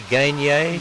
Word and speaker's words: Gagné: It's Gagné. Yes, you got it right. I pronounced that right? You did. Now it's French? It's French.